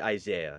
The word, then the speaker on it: Isaiah: And also, my name is pronounced Isaiah, so now we're even.